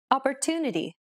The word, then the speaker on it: opportunity: Opportunity. Opportunity. The stressed syllable to in opportunity is pronounced longer than all the other syllables.